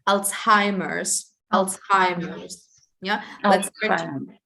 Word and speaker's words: Alzheimer's: And in English, it's pronounced Alzheimer's.